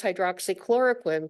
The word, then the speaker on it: hydroxychloroquine: And I think it's so much fun that everybody knows how to pronounce hydroxychloroquine because of the pandemic. Before then, it was like, the patient would say hydro something.